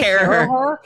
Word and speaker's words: Caraher: I would say Caraher. Is it Caraher? Yeah.